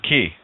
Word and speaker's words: quay: It's pronounced quay. Quay, quay.